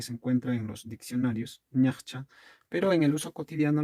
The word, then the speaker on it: ñachcha: Ahora, esta misma palabra a veces en pronunciación la van a escuchar como invirtiendo estas consonantes en vez de ñachcha, como ñachja. También se escucha eso, ñachja o ñachcha.